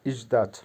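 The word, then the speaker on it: ждать: বা ওয়েট করা অপেক্ষা করা বা ওয়েট করা উচ্চারণ হবে ইজদা আদখা আদ্দিাচ ভার্বের বাংলা হচ্ছে বিশ্রাম করা বা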